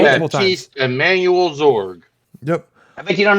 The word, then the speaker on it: Zorg: I thought you said Zorb.